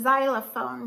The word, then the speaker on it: xylophone: now this is the xylophone you say it like a Z sound because x and y together make us weird sound see that that's how